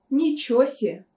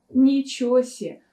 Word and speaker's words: ничего себе: речи на все-все например выражение ничего себе можно произнести как ничё се ничосе у нас двойное сокращение